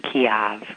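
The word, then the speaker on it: Kyiv: Apparently, it's supposed to be Kiev, according to President Zelensky, and all this time that we've been saying Kiev, we were saying it wrong.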